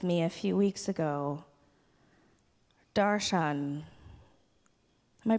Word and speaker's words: darshan: Sanskrit word with me a few weeks ago darshan am i pronouncing that correctly yes he says yes I